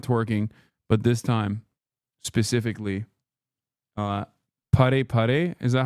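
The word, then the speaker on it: パラパラ: This time not twerking, but this time specifically pare pare. Is that how you say it? I'm putting Miskiff through another humiliation ritual, yes. Para para.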